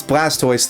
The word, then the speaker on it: Blastoise: We don't pronounce Blastoise the same way that we pronounce tortoise.